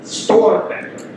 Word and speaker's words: Storbecker: Okay, this is Storbecker. Storbecker is how you say the name.